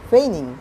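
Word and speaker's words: feigning: এখানে জি এর উচ্চারণটি হবে না, এটি হবে ফেইনিং, মানে ছলনাময়ী।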